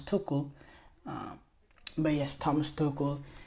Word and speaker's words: Tuchel: TL's name wrong some I always say Thomas Tel it's Thomas tokle um but yes Thomas